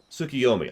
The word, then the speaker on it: Tsukuyomi: Tsukuyomi.